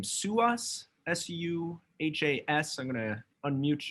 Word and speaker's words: Suhas: I want to go to, sorry if I mispronounced the name, Suhas, S-U-H-A-S.